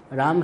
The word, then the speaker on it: राम: सीता इसमें विचित्र बात है, सी भी दीर्घ, ता भी दीर्घ, और राम रात तो दीर्घ है, मौ दीर्घ नहीं है। सीता राम उच्चारण में सीता, फिर राम राम रामा नहीं, हरे रामा अलग बात,